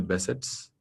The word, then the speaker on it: Behçet: In that, the number one will be the Behçet's. I'm an Indian, so I'm pronouncing Behçet's, but ideally it should be pronounced as Behçet.